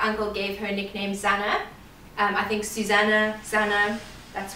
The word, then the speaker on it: Zana: So you might hear that we say Zana, although we do accept other pronunciations of it, because maybe it's not spelled the right way for that pronunciation, but you know, potato, potato, Nike, Nike, you know, we just go with the flow.